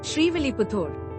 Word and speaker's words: Srivilliputtur: The name is pronounced as Srivilliputturu.